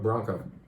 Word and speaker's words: branco: Not blanco, but branco.